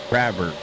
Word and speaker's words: Crabber: Crabber. That's how you say it. Crabber. Just like it's spelled, brother.